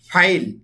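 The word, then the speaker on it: فاعل: কর্তা আর আরবিতে বলে ফাইল ফেল না কিন্তু ভালো করে শব্দের উচ্চারণ রাখেন ফাইল ফাইল মানে হচ্ছে কর্তা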